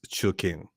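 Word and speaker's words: Choo Kheng: So Her actual first name is Chu King, which she pronounces. She's like, it's easy to say. You say Chu and King, Chu King.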